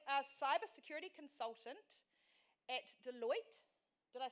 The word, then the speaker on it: Deloitte: is he is a cyber security consultant at deloitte did i say it right yes deloitte and izzy is our head judge today now